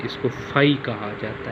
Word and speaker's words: phi: लगा के दरमियान में लाइन लगा लें, इसको फाई कहा जाता है, PHI फाई। इसका जो स्पेलिंग बनते हैं स्टूडेंट ऐसे लिख के, ज़ीरो